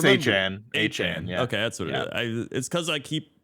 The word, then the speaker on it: Achane: It's Achane.